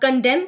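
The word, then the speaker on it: condemn: अब कंडेम के अंदर 2 एन है, लेकिन हमने पहले एन को प्रोनाउंस करना है लेकिन लास्ट को प्रोनाउंस नहीं करना।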